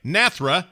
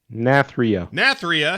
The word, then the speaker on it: Nathria: the order castle natheria am i saying it right nathra not there nath nathria there you go ask your doctor if